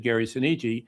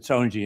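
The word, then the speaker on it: Gary Soneji: I said Gary Seniji. So of course they pronounce it soni in the movie but you know do they do what they want to do out there.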